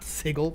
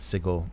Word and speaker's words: Sigil: city of sigil not sigle what Sig yeah but that was yeah so I looked that up last week and the um American yeah pronunciation is sigle UK is Sig isn't that isn't that